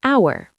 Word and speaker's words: hour: sound, an apple, an hour, an idea. Right. A and an are just about sound, not spelling. An hour because hour starts with a vowel sound, even though it's spelled with an h.